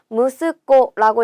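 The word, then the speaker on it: 息子: 무스코라고 읽고요. 얘는요. 무스 좀 특별하게 읽는 애예요. 그래서 꼭 기억을 해 주셔야 됩니다.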